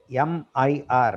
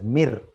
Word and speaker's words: Mir: Of course, in 1980s, the Soviet Union bounced back with a huge space station called Mir, M-I-R. Many people pronounce it as Mir. It is Mir.